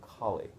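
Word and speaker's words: khali: have this concept of colie Ki means in English we spell it k h a l i so not K like like the Hindu goddess k k means empty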